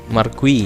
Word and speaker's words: marquee: Gimana sih cara bacanya? Marquee ya.